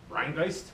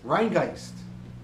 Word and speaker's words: Rhinegeist: the uh Brewery again you pronounce that Rin gist Rin gist it's like zist so that's rist yeah it is Rin gist Brewery I'm curious to